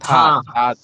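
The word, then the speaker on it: تھا: ওই যে পরে তাহা ও তাহা না এটা থা তাহা থ আর আকারে থা হবে মানে এটা কি অর্থ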